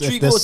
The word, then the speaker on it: Trigo: Trigo, 2 syllables. 2 syllables. Trigo. Trigo. You know. I mean, no, it's It's Trinidad as in tree. TRI. Tree. Go. We take the TRI and we take the Geo.